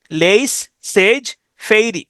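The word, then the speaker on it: laissez-faire: আর ই ফেইরে fairy উচ্চারণ করতে পারেন লেইস সেজ সেজ ফেইরি লেইস সেজ ফেইরি অবাদ বাণিজ্য নীতি লেইস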